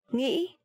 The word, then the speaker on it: nghĩ: I know it's really hard for foreigners to pronounce this tone mark. But there is no way but practicing. If you hear people from the south, the southern accent, they would say nghĩ, a bit softer, right?